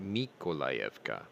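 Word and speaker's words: Миколаївка: have taken control of nikolayevka which is also sometimes pronounced mikkolayevka with an m that's why i had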